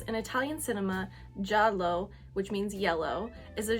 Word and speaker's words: giallo: at least in Italian J J is how jalo jalo it's Italian for yellow and I've pulled up